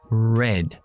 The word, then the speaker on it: red: los labios sácalos fuera vamos a decir la palabra rojo vale saco los labios ra ra y noto como la lengua hacia así hacia atrás pero no toca paladar red me gusta esta traba